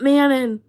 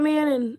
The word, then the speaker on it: Manon: everyone was like, it's not Manon. It's not Manon. Freaking out in the comments. And I was like, okay, it's Mano or whatever. That's what they told me. It's Mano. Or they're like, you pronounce it like ma and then no.